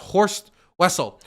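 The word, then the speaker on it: Horst Wessel: this guy was like I believe it's pronounced horse Wessel and this guy was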